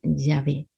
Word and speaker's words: Yahvé: Pero podemos decir que se pronuncia Yahvé.